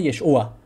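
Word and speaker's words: ישוע: ain no tiene y es u no tiene yeshua entonces vemos que el mismo texto de la peshita en arameo no pone Ah no dice yeshua Y ustedes van y le preguntan a alguien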